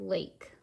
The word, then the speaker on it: lake: says lake our word lake three sounds but four letters how do we get that a sound a consonant e so one consonant has